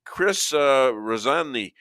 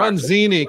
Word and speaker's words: Ranzini: Okay, Chris Razzani, this just from Fox. Ranzini, come on, you got to say it right.